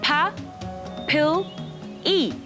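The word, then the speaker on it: papillae: bumps here are called papilli ah sorry puppy baby babe it's pronounced pa pill e and most of them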